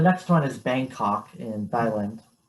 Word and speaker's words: Thailand: one is bangkok in thailand thai land is how you pronounce that um and yeah it's